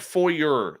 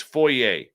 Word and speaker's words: foyer: Now you're see it's not foyer. That's the American way of saying it. Filth. It's foyer. The proper pronunciation is foyer.